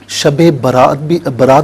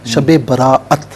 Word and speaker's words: شب براءت: شب برات بھی نہیں ہے، شب براءت. ہاں، شب براءت بالکل ٹھیک. بہت سے لوگ سمجھتے ہیں برات کی رات. جی تو اسی لیے صحیح تلفظ اختیار کرنا چاہیے.